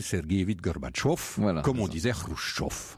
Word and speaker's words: Gorbatchev: le dites à l'occidentale vous dit gorbatchev comme on disait khrouchtchev voilà mais si vous le dites à la russe alors c'est mikhaïl sergueïevitch gorbatchev comme on disait rouge